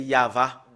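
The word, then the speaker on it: יהוה: Yod, He, Vav, E. Voilà comment on le prononce. Voilà, le fait de le prononcer, c'est Yava.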